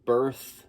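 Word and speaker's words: Berth: It is the self-titled album by Birth. That is spelled B-E-R-T-H, even though I'm sure I'm going to have it up on the screen.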